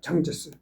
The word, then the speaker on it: 장제스: 이때만 해도 장개석이가 이끄는, 그러니까 장개석이라는 거는 그냥 우리 대한민국 한자로서 읽었을 때 장개석이고 중국식 발음은 장제스입니다. 장제스.